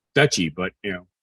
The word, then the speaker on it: duchy: retire the the and I don't pronounce the word the douchey the dutchie d-o-c-h-y ear pronounced duchy but you know right